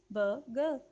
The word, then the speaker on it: burger: Actually फिर से बता रही हूँ, वाउल साउंड्स के बाद आर जो है वो साइलेंट हो जाता है और आप इसको सिंपली कहेंगे बर्गर, बर्गर, बर्गर. आर नहीं बोलना, बर्गर, बर्गर.